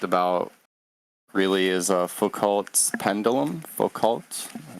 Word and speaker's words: Foucault: Foucault, am I pronouncing it correctly?